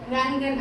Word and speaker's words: ரங்கன்: அதுக்கு முன்னாடி ராக்கு முன்னாடி ஆ போட்டு ரங்கன் அதுக்காக அரங்கன்னு படிக்க கூடாது அத ரங்கன்னு தான் படிக்கணும். ஆ சைலண்டா சொல்லணும்.